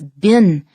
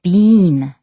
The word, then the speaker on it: been: seen that b-e-e-n in american english in the united states that is is bin however in canada and in the uk and some other english-speaking countries of the world they say bean bean to rhyme with seeing but in american english it's been the second point is